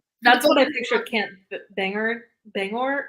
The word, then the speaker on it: Bangor: what I picture can't banger Bangor how is it pronounced Bangor yeah okay uh that's how exactly